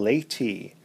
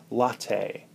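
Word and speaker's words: latae: Our first muscle is the tensor fasciae laity, or TFL for short. The TFL is also referred to as the coffee muscle because laity is often mispronounced as latte.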